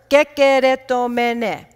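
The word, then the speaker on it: κεχαριτωμένη: It's a six-syllable word, kekeretomene. It's a word, if you've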